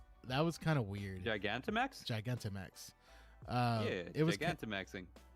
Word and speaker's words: Gigantamax: Because I mean, like Gigamantix from Sword and Shield. I don't know if I'm saying it right. That was kind of weird. Gigantamax?